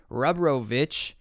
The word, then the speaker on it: Rebrovich: Rebrovich, that's how you say it, brings 20 years